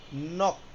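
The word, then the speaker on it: 넋: পাশে কিন্তু ব্র্যাকেটে ওর উচ্চারণ বানানটা হচ্ছে এরকম উচ্চারণটা কি হবে পাশে কিন্তু ব্র্যাকেট দিয়ে লিখে দিছে নক এখানে দেখেন কি লিখছে আন জিয়ত দা এখানে জিও হবে না প্রথমটা আমরা ধরবো তাহলে কি হবে?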